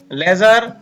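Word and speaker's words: ledger: और हमने इस वीडियो में देखा कि कुछ शब्दों में डी के तुरंत बाद अगर जी आता है तो हम डी का उच्चारण नहीं करते हैं।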